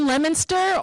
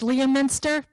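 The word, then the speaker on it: Leominster: thanks Dennis Dennis worth great time here in lemonster or is the rest of the the country says Liam Minster don't you hate that they mispronounce it Liam Minster you know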